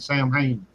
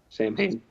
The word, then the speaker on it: Samhain: difference between the Christian version of Halloween and Samhain. Sam Hain. I always find it cute when someone actually pronounces it Sam Hain.